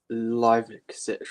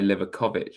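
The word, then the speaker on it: Livaković: Livicic or whatever his name is. Yeah, it's not. I used to say Livakovic. It's actually Lajkovic, I think.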